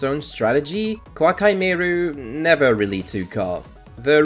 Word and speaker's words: Koa'ki Meiru: Also, this isn't related to anything really, but do you know why it's pronounced Koa'ki Meiru?